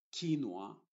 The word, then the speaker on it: quinoa: y luego donde dice quinoa por ejemplo la primera u después de la q está haciendo muda lo mismo que pasa con esta palabra anterior la u es muda la que si se está pronunciando como W es la O más bien Wa chin y en todas